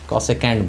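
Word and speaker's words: cosecant: तो कॉसेक theta को basically लिखा पूरा ऐसे रहता है, कॉसेकेंट बोलते हैं इसको। ठीक है, कॉसेकेंट बोला जाता है, ये कैंट होता है प्रोनाउंसिएशन, साइन थीटा।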